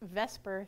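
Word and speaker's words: VSEPR: has the acronym VPR it's often pronounced Vesper Theory that stands for veence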